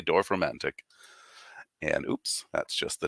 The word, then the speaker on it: Dorfromantik: ahead and take a look at how that's written because it is a complicated looking pronunciation, but I've heard most people say Dorfromantik.